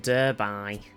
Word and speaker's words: Darby: a little early look so with Darby actually be pronounced durby exactly Merin that's why